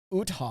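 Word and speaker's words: Uthaug: the director uh Roar UT hog which is a great name what that's who did the T like you pronounced that wrong his first name is Roar and utog I didn't say you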